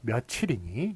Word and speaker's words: 며칠: 바뀌었어요 바뀌었기 때문에 그래서 오늘이 몇 몇 월 며칠 링이 이런식으로 발음 하기 때문에 며칠을 쓰는 것이고 이것은 몇